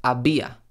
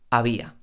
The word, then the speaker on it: había: glotis o el velo los hablantes nativos de español cuando pronunciamos estas tres consonantes no llegamos a cerrar del todo ese obstáculo que impide el paso del aire sino que lo pronunciamos de manera mucho más relajada por ejemplo había había no decimos había decimos había mis labios casi no se cierran casi no se tocan había a cabo a